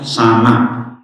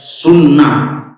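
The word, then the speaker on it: سنة: Bacanya sana. Tidak sunnah. Walaupun hurufnya sama.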